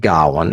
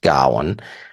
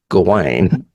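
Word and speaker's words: Gawain: lead Dev Patel plays Gowan and they do pronounce it Gowan and when I studied in college it was pronounced Gowan but when I read it I think in high school it was gain g Maybe is a Tennessee thing I don't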